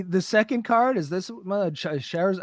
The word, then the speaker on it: Charizard: Is this Charizard?